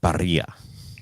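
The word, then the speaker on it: birria: It's Barria, but it's pronounced barria.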